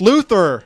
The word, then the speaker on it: Luther: His name rhymes with tumor. Tumor. 2-4. It's Luther.